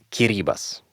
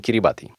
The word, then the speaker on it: Kiribati: jest Kraj którego nazwę zapisuje się jako Kiribati ale wymawia kiribas tyle że tak jest w oryginale albo na przykład w angielskim tymczasem według poradni języka polskiego po naszemu powinniśmy to słowo wymawiać Zgodnie z zapisem czyli właśnie Kiribati dlatego na przykład ja